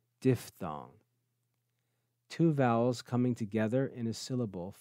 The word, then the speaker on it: diphthong: pronounce that word correctly some students say diphthong that's not correct it's diff thong diphthong two vowels coming together